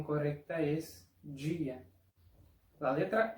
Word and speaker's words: dia: En algunas regiones que hablan portugués, la pronunciación es día, como en español. Pero en otras regiones, como acá donde vivo, la pronunciación correcta es dia.